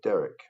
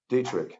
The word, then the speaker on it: Detrick: on earth not even for derrick um detrick i'm sure miss pronouncing it here dietrich dietrich that's correct no lab in the